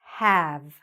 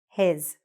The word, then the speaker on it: have: What happens is that people tend to take this short A sound, and say his. No, we don't want to say that. We want to open our mouths and say have.